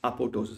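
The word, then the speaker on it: apoptosis: it accumulates fine okay APO means precursor hi surj right it's a precursor to a cell's fall that's apotosis right it's precursor you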